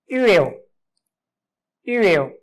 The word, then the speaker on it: huevo: It is silent. It's silent sound. English H sound, H sound, but in Spanish it's just silent sound. Huevo, huevo, egg, huevo.